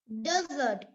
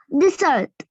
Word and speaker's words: dessert: Okay, Aidin, how do you pronounce that word? Desert. No. Rebecca? Dessert.